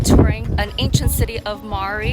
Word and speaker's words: Mari: We're spending all day today touring an ancient city of Mari. It's spelled like the name Mary, but it's pronounced Mari.